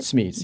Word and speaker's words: Smeets: So we hear David McGee telling you again about this Dutch couple, Jan and Josh Meets, is that how you say it? Smeets, yeah. Smeets.